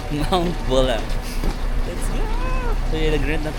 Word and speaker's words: Mount Buller: Hindi pala siya Buller. Pag pino-pronounce wala palang R. Mount Bulla. Nandito t sa Mount Bulla. Yung parang ginagamit sa basketball. Bula char. Mount Bula.